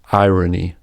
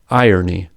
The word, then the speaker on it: irony: For example, some Americans pronounce the word irony as irony with prevocalic R, while others say irony with vocalic R.